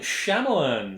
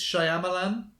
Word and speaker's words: Shyamalan: list here M Night shamalan sh shamalan sham shamalan I'm never quite sure how to pronounce that I think it's Shyamalan yeah that would make sense actually from the way it's spelled M Night Shyamalan yeah shamalan